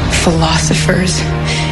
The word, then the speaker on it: philosopher: 처녀들과 전사들, 치유자들, 철학자들, 수호자들로부터 From virgins and warriors, from healers, philosophers and guardians.